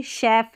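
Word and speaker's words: chef: हैं और यहां पर देखिए शेफ है श पढ़ रहे हैं तो सी एच को श का प्रोनाउंस कर रहे हैं या कौन से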